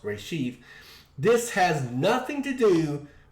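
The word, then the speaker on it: רֵאשִׁית: already existing translation of ray sheath hebrew beginning pronounced reshift this has nothing to do with pictographical meanings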